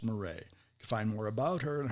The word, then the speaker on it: Marais: is m-a-r-a-i-s m-a-r-a-i-s and it's pronounced murray find more about her